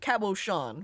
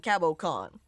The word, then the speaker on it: cabochon: Is cabochon pronounced like shush or k? I'm pretty sure it's sh, like cabochon, rather than cabocon.